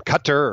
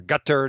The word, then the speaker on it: Qatar: about five months in in qatar or gutter depending on how you want to pronounce that and then um had